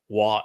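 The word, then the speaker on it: Waw: The Wah in Hebrew was a vowel. It conveyed the O sound. It sometimes can be rendered as a U sound. It's just like the English W. English W is almost always pronounced as a vowel consonant conveying the O or the U sound. That's why it's called a double U in English.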